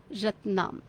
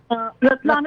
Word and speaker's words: Ratlam: Ratnam. Ratlam, it is spelled as R-A-T-L-A-M.